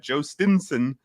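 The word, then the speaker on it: Jhostynxon: But Joe Stinson is how baseball reference is telling us to pronounce it.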